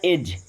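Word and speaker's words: edge: एज।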